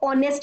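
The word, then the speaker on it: honest: अब इसको प्रोनाउंस करके देखो तो ऑनेस्ट बोलते हैं, एच साइलेंट है, ऑ का साउंड आ रहा है, तो जब साउंड जो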